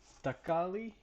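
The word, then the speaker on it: thakkali: The how it's pronounced is takali, which means tomato, and sambol means salad. So it means tomato salad.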